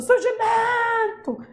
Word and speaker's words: surgimento: Eu quero saber qual é o surgimento o surgimento é mento a sílaba tônica é essa aqui ó ela é